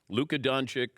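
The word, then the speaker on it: Luka Dončić: is talking about this is that how you pronounce his name I said yes it is Luca donic traded to the Lakers and you start to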